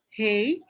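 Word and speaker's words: 黑: Bakit high? That is EI. How do you pronounce EI? Hei.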